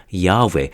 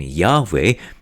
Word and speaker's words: Yahweh: Bible y h whh which was most likely pronounced Yahweh according to biblical scholars in the English translation